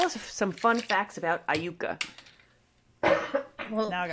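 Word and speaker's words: Iuka: It is Aayuka. Okay. Tell us tell us some fun facts about Aayuka.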